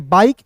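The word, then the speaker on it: bike: तो बी का ब लिखेंगे। आई का उच्चारण यहां पे आई के रूप में करेंगे। बाई और के का दोस्तों यहां पर क लिख दीजिएगा तो बी आई के ई को पढ़ेंगे बाइक और याद रखिएगा अंतिम में जब इ आता है ना जी साइलेंट होता है इतना याद रखिएगा ठीक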